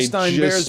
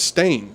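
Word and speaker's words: Berenstain: these books clearly and Stein was how I pronounced it Stein was the way I'm spelling it in my head I'm spelling it on the paper here and that says stain bear stain Bears yeah this is the big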